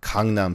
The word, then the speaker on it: Gangnam: so let's say I Gangnam Style or kangnam style as it properly pronounced I'm going send it